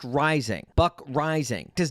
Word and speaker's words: Reising: In fact, a good way to remember how to pronounce his last name is that his last name is a lot like his weight.